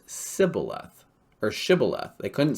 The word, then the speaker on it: shibboleth: they said then say say now shibboleth and he said sybileth okay because one of the things this is just between two different hebrew tribes the aphromites could not pronounce sybileth or shibboleth they couldn't say sh